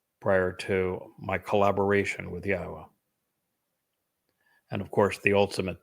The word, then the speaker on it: Yahowah: pronounce Yahwa's name but to prove that the pronunciation of his name as Yahwa is accurate and reintroduce you to your God.